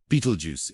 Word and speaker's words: Betelgeuse: Beetlejuice often pronounced Beetlejuice is a red super giant star that appears to be nearing the end of its life cycle.